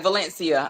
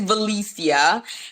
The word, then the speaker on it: Velecia: correct you on pronouncing but it's valicia with no n and I used to